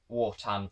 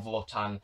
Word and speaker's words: Wotan: the Law Machines and WOTAN, or VOTAN, however you like to pronounce it.